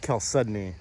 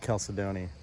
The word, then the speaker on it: chalcedony: I guess it's pronounced chalcedony, so not chalcedony.